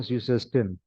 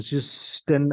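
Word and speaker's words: süßesten: क्योंकि यहाँ पे SS कई एक साथ हो रहे हैं, इसलिए बीच में एक S लगा दिया फॉर the clarity of pronunciation, ठीक है। सो ज्यूसेस्टिन, हम ज्यूस्टिन ऐसे नहीं बोल सकते ना, इसलिए ज्यूसेस्टिन।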